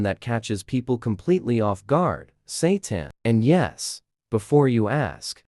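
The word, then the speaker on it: seitan: Satan and yes, before you ask, it's pronounced Satan and yes, people absolutely make the same joke every single time they hear it.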